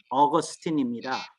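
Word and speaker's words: Augustine: 아우구스티누스 주의라 그러는데 아 우선 아우구스티누스는 영어식 발음으로는 어거스틴 그근데 여러분들이 이렇게 시험하는게 있잖아요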